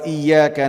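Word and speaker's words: إِيَّاكَ: Oleh Al-Imam Ibn Katsir rahimahullah disebutkan Iyyaka haruslah menggunakan syaddah, tasydid. Tidak boleh seorang membacanya iyyaka, akan tapi iya harus tasydid. Karena apabila tidak dibaca dengan tasydid, maka artinya kesyirikan kepada Allah. Padahal ayat ini iyyaka na'budu artinya mentauhidkan Allah. Tapi apabila tidak dibaca tasydidnya, dibaca dengan iya ka, maka iya ini artinya adalah disebutkan oleh Imam Ibn Katsir daw'us syams. Artinya cahaya matahari.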